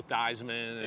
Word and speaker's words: Theismann: So Joe Theismann. Yeah, I know Joe Theismann. All those guys come back around. Right. Damn, changed his name to rhyme with Heisman.